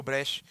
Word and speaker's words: Brecht: O Brecht, né, a pronúncia correta é essa, já falava sobre isso na Alemanha.